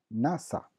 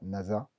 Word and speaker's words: nasa: Attention, toutefois, le S se prononce toujours se, donc c'est pas NASA, c'est NASA.